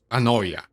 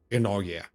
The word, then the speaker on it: Anogia: And yeah, it is written in English as Anogia, but it is pronounced Anoia. I'm not sure the locals would understand you if you said Anogia.